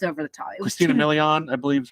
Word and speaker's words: Christina Milian: It was Christina Milian, I believe is how you pronounce her name, is singer Linda Moon.